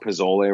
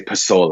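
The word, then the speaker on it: pozole: recipe in there um or I should say pole it's I know I was pronounced that it's more of an S sound to it even though it spelled with a z um it's a fantastic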